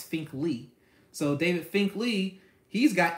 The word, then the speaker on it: Finkley: So I had to ask him how you pronounce his name yesterday. It's Finkley.